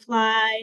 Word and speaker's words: FLI: fly um at colia we use the acronym fly it is pronounced fly f l it's acronym for our